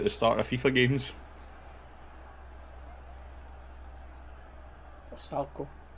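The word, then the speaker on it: Vrsaljko: For Salco. That's how to pronounce it, mate.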